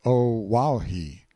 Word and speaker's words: Oahu: him after this island Oahu pronounced oahi the first gate he